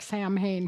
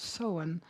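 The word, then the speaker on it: Samhain: And um and Halloween itself actually before um it was changed was called seen and it looks like Sam Hayne here but really is pronounced soen.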